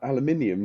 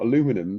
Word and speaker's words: aluminium: morning bizarrely there's a big al aluminium not aluminum factory nearby so um and color's got a u in it but on that note aluminium is one of my favorite my favorite pronunciations of like any word and honestly I want to move to the UK just so I can hear people say aluminium instead of Alum so you know story